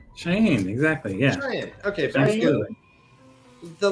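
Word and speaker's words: Shiaine: owned by the lady guys pronounce that Carrie pronounce the lady s h i a i n e um lady shyen cheyen exactly yeah cheyen okay the lady cheyen and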